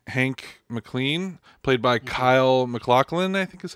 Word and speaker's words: Kyle MacLachlan: Kyle MacLachlan, I think is how you say his name.